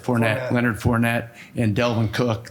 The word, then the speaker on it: Fournette: We have Leonard Fournette, Is that how you pronounce it? Fournette. Fournette.